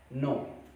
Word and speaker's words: know: Silent, ठीक वैसे ही जिस शब्द में सबसे पहले के आ जाए और उसके तुरंत बाद अगर एन आ जाता है तो के साइलेंट हो जाता है। जैसे नो, KNOW, नो, नो mean जानना।